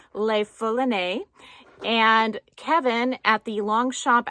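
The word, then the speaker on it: Le Foulonné: The Longchamp pouch I showed you yesterday, it's pronounced Le Foulonne, and Kevin at the Longchamp outlet in San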